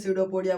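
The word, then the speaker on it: pseudopodia: इसका spelling P से शुरू होता है। लेकिन हम लोग क्या बोलते हैं? सडोपोडिया बोलते हैं।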